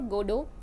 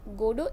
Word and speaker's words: Godot: pronunciation of this name some opt for stressing the first syllable god while emphasizes the names linked to god and while others choose to stress the second good o this play incorporates many